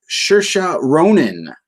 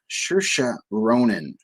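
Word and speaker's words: Saoirse Ronan: like 20 minutes earlier today learning how to pronounce this name i'm probably going to still screw it up this is shersha ronin shersha ronan yeah that's why i'm pretty sure how you say that sure ronan anyway however you pronounce it uh she's a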